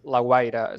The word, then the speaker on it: La Guaira: It's a bit difficult to pronounce it in English, La Guaira.